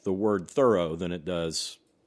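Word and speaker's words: Thoreau: It's got both the both syllables are equally emphasized.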